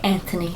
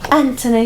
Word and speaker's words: Anthony: they call they say Anthony Anthony they don't really pronounce the h they're like there's no